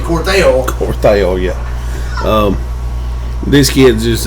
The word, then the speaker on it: Cortell: It's even been mispronounced several times and called Cortell, but it's actually Cortell.